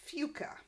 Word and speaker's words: Fuca: Orson says he needs to practice because he's playing in a celebrity tournament on the planet Fuca. And that's how it's pronounced, although the subtitles spell it as F-U-C-A, so kind of getting that past the censor.